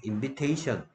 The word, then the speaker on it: invitation: 아이의 발음이 달라져요. 초대하다 할 때는 invite였 I였는데 명사할 때는 I 발음이 E 발음으로 바뀌어서 invitation. 그럼 invitation card 한번 보겠어요?